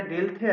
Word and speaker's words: Dilthey: এবার খালি একটা জিনিস লিখে নেবে, আমি বানানটা বলছি, WILHELM, ঠিক আছে? উইলহাম, DILTHEY, ঠিক আছে? উইলিয়াম, যেটা ডেলথে আছে, এ, স্ক্রিনে দেখো লিখেছি WILHELM, উইলহাম ডেলথি, DILTHEY, উইলিয়াম ডেলথি এই কনসেপ্টটা দিয়েছিল, ঠিক আছে?